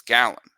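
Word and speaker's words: Gallen: That's a Gallon or Galen. I always mispronounce it. It's Gallon and Kelly are both terrific.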